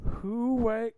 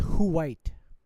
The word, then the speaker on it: Huite: who-white cuckold fetish of a Who- no, fantasizing about that's- brown ends being literal Wakanda? That's pronounced Huite. Who-white. Who-white. Who-white.